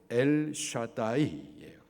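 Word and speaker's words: אל שדי: 히브리 발음으로 엘샤다이예요.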